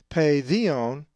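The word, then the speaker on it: παιδίον: If you said paidion, you are correct, as the accent is over the iota.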